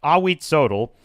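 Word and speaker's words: Ahuitzotl: I I wrote down the pronunciation. Awit. That's right. Awit Sodel purportedly organized the butchery of 80,400 prisoners during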